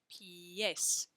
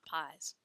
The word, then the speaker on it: pies: The letter I says E, and the letter E says E. So we pronounce that word pie, pies, pies for feet, not pies.